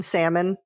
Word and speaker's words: salmon: heard anybody say l do you pronounce the L in Salmon no but my mom does